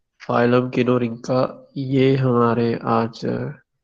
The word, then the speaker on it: Kinorhyncha: भी आ रहा होगा फाइलम किनो रिंका बी की प्रोन प्रोनंसिएशन बनती है बाज प्रोनंसिएशन में इसको किनो हिं का आर साइलेंट जो है वह पढ़ते हैं और एक जगह पर इसको मैंने देखा कि नौर हिं का कहा गया तो जो मैं